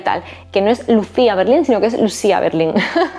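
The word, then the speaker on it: Lucia Berlin: por editado por alfaguara digo Lucía Berlín porque te hacen saber que se pronuncia así al final del todo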